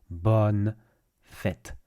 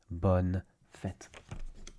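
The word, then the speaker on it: bonnes fêtes: BN Fett pronunciation uh don't get fooled there's no nasalized sound the way you do in you have in in bour for example bour here it's B BN fit BN fit there you go and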